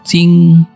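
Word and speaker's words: 京: Contohnya adalah ini, kalau kita kasih huruf seperti ini bacanya adalah Jing, artinya ibu kota.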